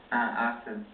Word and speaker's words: Artur: How would you say it? Artur. Artur. Okay.